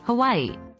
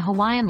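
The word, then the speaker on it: Hawaiʻi: That's the okina in play, which is a unique feature in the Hawaiian language. It's a glottal stop, similar to the pause in oh.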